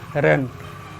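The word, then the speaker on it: reign: रेन miss होता है शासनकाल, यानी कि यहाँ पर भी आप देख रहे हैं IGN एक साथ आया है तो यहाँ पर आई का भी प्रोनाउंसिएशन हम नहीं करेंगे। आई भी यहाँ पर साइलेंट है, यानी कि रेन में आई जी दोनों साइलेंट हैं। रेन यानी कि RE से रे, एन से न, रेन हम पढ़ेंगे शासनकाल। नेक्स्ट देखते हैं थॉट।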